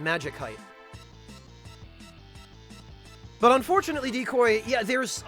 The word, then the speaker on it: Magicite: you pronounce it magical so it seems to me that the pronunciation of m a g i c i t would correctly preserve the pronunciation of the original root word magic so that's why I pronounce it Magik height but unfortunately decoy yeah